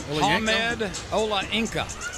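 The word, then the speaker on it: Hamed Olayinka: Y that's a travel and it's going to be called against Ahmed Ola Inca.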